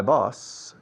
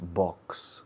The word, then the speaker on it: boss: My boss, y se dice boss, por favor no digáis box. Box es caja. Boss. Es curioso que os cuesta pronunciar la X, pero luego con la palabra boss me dais una X siempre. Y estoy desesperado pensando, tirándome los pelos. Boss, un S simple, un S líquida, boss.